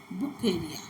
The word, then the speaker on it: Wuchereria: Actually, its name is according to its Brazilian doctor who discovered it, and his father was German. Therefore, the correct pronunciation is Bucheria.